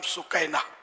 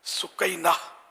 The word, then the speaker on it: سکینہ: ایک بیٹی کا نام سکینہ۔ اچھا، ہمارے خیر مشہور سکینہ ہے، بہت مشہور ہے سکینہ، تو یہ ہے اس کا اصل تلفظ سکینہ۔ سکینہ لفظ بھی اچھا